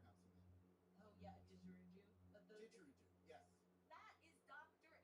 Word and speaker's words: didgeridoo: As musicians have told me, it sounds like a didgeridoo. Oh, I'm mispronouncing that. Oh yeah, didgeridoo.